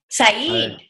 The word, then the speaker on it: Said: My name is Said. Said. That's the correct pronunciation.